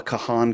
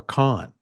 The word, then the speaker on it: Kahan: camera at the Noah Kahan concert whoever that is is it Kahan or or Khan uh it's spelled Kahan K A ha an I always thought it was pronounced con but we'll get 90